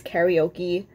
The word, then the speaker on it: karaoke: sing karaoke sorry um in hawaii we say karaoke it's karaoke to i don't know what the rest of the world um but we pronounce it karaoke um i would love